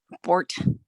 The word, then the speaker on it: Bort: Bort. Okay. Like a T at the end? Bort.